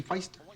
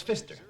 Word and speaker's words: Pfister: Feister? That's Pfister. P is silent.